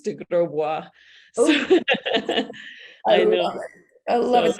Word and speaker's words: de Grosbois: I could pronounce it it's pronounced the French way it's DeGraw I know I love